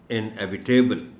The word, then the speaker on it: inevitable: इसको most of the people coming across this word pronounce it as inevitable.